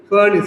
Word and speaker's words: furnace: Furnace, R is silent. Therefore you pronounce as furnace.